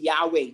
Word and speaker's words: Yahweh: proper pronunciation is really Yahweh there's no J in Hebrew there's no J and